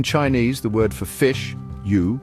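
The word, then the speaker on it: 鱼: the word for fish U pronounced u sounds very similar to the word for Surplus this finesse IC similarity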